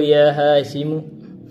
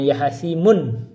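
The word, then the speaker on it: يا هاشمُ: Anta kasartahu ya Hashimu, apakah kamu yang mematahkannya wahai Hashim? Bacanya ya Hashim, jangan ya Hashimun. Ini harus tanpa tanwin, domah tanpa tanwin.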